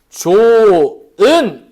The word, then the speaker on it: 좋은: 요거 같은 경우에 발음하면 어떻게 돼요? 발음하면 좋은. 이렇게 발음이 되죠.